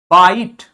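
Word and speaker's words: bite: बनाता है ठीक है जैसे बाइट व टी का ई का कोई साउंड नहीं टी के पहले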